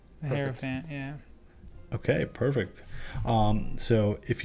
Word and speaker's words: Hierophant: this one, I'm probably gonna butcher the pronunciation, but I'm gonna say the Hierophant. The Hierophant, yeah.